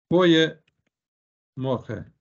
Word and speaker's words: Goeie morgen: Goeie morgen. G is spelled as H in Dutch.